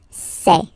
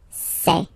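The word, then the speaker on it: ces: And for the plural, c'est, c'est. Really open this, c'est.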